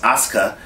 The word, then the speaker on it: Asuka: the screen it looks like Asuka but it's pronounced Asuka she's bad I was talk I touched on